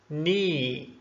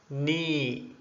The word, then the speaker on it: knee: For example, knee, knee.